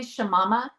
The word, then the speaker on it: Shamama: she's also known as, do you say Shamama? Is that how you say it? Yeah. Yes. Yeah, that's I don't even remember how I started being called Shamama, but yeah, some people say Shamama.